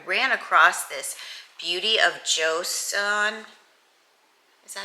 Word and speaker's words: Joseon: And I ran across this Beauty of Joseon. Is that how you say it? Yeah, Beauty of Joseon.